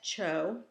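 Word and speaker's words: Zhou: going to help the first one is the Cho Dynasty Z hou is pronounced Cho and this is where the whole concept of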